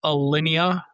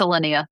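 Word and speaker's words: Aria: Do I have to say Karen checked out the Alia popup at Bellagio? Because if I do, I need to make sure I'm pronouncing that word right. It's It's Elia.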